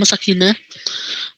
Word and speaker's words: Sakena: Kuanta, terus Mizan, Norakils, Sakena itu tulisannya bacanya Sakina.